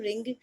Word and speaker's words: wring: तो याद रहे, RING, रिंग मीन्स अंगूठी भी होती है, और WRING, रिंग, प्रोनाउंसिएशन तो सेम है बट स्पेलिंग अलग है।